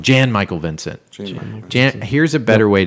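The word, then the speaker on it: Jan-Michael Vincent: you know that is I just said it wrong Jan Michael Vincent Jan here's a better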